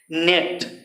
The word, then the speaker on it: gnat: इसके बाद GNAT, यहाँ पर जी साइलेंट है, जी साइलेंट है, GNAT, नेट।